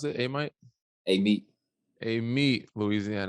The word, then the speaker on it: Amite: It's a little different than, was it Amite, Louisiana? Is that how you pronounce it? Amite?